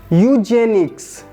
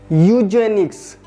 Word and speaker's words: eugenics: Eugenics. Eugenics. Eugenics. See, I have underlined e that won't be pronounced or pronounced differently.